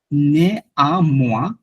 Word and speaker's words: néanmoins: Like এটা উচ্চারণটা যেটা নেয়ামোয়া, এটা উচ্চারণটা ভাঙতে গেলে ভাবে হবে কি আপনার একটু আলাদা করবেন, নে আ মোয়া।